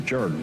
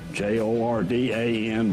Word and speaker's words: Jordan: Charleston told me that it was a Welsh pronunciation, that the Welsh did not want to be confused with the Irish. So they took the Jordan and turned it into Jordan.